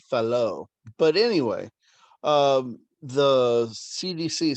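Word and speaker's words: Fallot: is the tetralogy of falat hold on a sec i'm gonna look that one up okay i was mispronouncing that it's a french name so tetralogy of fellow but anyway um the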